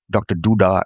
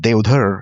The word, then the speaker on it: Deodhar: So I'm known around in the US as Devdar, Dr. Duda, etc. But Devdar is the correct pronunciation, which is, I rarely hear it. But of course, people with the Indian tongue can say Devdar.